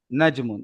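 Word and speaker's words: نجمٌ: جیم پر جیم ساکن ہے، جیم پر جو ہے نا ہم نے جزم پڑھنا ہے. نجمن ہم پڑھتے ہیں نجم. یہ اردو کے اندر تو لوگ بول جاتے ہیں لیکن عربی کے لحاظ سے تلفظ غلط ہے.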